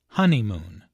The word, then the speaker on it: honeymoon: Listen to the stress on honeymoon. There are 3 syllables in honeymoon, with a stress on the first syllable, honeymoon.